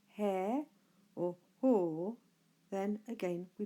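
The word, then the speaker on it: ἁ: So alpha with a little C above it should be pronounced ha.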